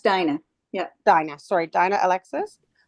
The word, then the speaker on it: Diana: here Dominique John's here Diana Alexis is that correct it's pronounced Dina yeah Dina sorry Dina